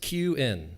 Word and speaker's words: Kuhn: It's my pleasure to introduce, hopefully this isn't locked, Melissa Kuhn. And this is an introduction written by Jayo, Macasquit. It's pronounced Q-in, like Q-in.